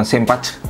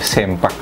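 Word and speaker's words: Ssempak: lebar sempak ya ini bacanya bukan selesaiin fuuka tapi sempat juga bukan bacanya bukan simpan tapi sempak kemudian di sini ada uh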